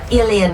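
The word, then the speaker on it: uilleann: Iulian penulisannya tapi bacanya P. Ilian P itu di ada video kita interview gitu di di apa YouTube ada.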